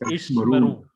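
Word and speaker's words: ישמרו: back to back in the middle of the word. First is silent. First Shiva is silent. that is Ishmeru.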